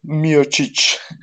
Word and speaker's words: Miocic: Yeah, he fought it's pronounced Miocic.